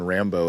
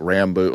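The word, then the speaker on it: Rambaux: he was saying like Rambo like he was he was pronouncing a certain way and his wife came home and said oh Rambo and he was like oh that's a cool sounding name and then John as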